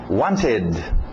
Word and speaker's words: wanted: Passado, wanted, wanted. Diga aquele ED, wanted, ok? Pronúncia rápida, tira o T, wanted, wanted, wanted.